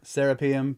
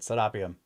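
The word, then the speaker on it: Serapeum: I was like, are you sure that it's serapium? Because listen to how they say it, Sarapium. Because that it's named after Sarapus.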